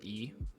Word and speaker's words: Yi: great by the way I know the pronunciation is e but I very often still say e because like I've been ingrained saying that for two years so just know that I know it's e and it's just uh